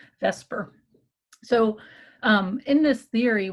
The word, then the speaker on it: VSEPR: They usually pronounce it vesper.